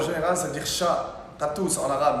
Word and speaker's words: Gattouz: Gatouze en arabe, mais puisque les étrangers ne peuvent pas prononcer le ka, dire Gatouze. Cartouze. Ouais, tu dis ka.